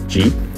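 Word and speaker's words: 鸡: The pronunciation of chicken in Chinese is ji, that sounds like ji, which means auspiciousness.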